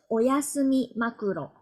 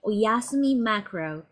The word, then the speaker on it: Oyasumi Macro: finals in June the first place was oyasumi makuro yasumi makuro maybe in English pronunciation it's been like oyasumi macro this team name is